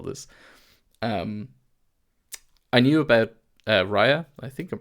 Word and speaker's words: Rhai: Um I knew about Rhai. I think I'm pronouncing that right, Rhai or h a i.